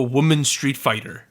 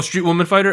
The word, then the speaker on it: Street Woman Fighter: currently dancing in on the uh variety show woman street fighter fighter oh street woman fighter oh yeah that's how you say it know